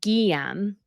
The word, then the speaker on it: Guillaume: Lizzie B says you can pronounce the Grand Duke's names as Guillaume.